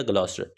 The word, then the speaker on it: Gloucester: यहाँ पे नाम नहीं लिखा हुआ, लेकिन वो लाजमी तौर पे ऐड कीजिएगा, ग्लॉस्टर, GLOUCESTER, ग्लॉस्टर।